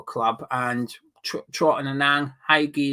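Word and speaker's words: Hegyi: And Trot and Anang, Haigi as well, that's how you pronounce the under 23's keeper's name.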